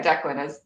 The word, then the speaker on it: Declan: Declan. Declan. At least, yeah, Declan is how I envision it's pronounced.